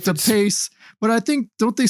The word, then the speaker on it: DePace: think Steve which I've heard his last name pronounced different ways. But DePacy. I think I heard David Yao say DePachi or something. It's probably I thought it was like DePace.